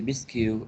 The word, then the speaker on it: biscuit: okay go ahead the biscuits are put in the oven in order to be cooked okay and we say biscuit biscuit you is the silent letter so biscuit biscuits okay